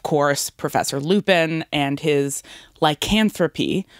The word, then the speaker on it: lycanthropy: Professor Lupin and his lycanthropy, which I remember how to pronounce now because of the song She-Wolf. Remember that Shakira song? This is lycanthropy.